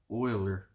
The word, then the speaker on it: Euler: 18th century Swiss mathematician Euler pronounced Euler Oiler who had an important number